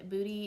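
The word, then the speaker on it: Boudie: bad and booty and booty is spelled like boudoir so it's b-o-u-d-i-e it's run by a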